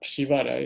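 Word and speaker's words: Przywara: Shivara, se escribe, es polaco del apellido, ¿no? P-R-Z-Y-W, Shivara.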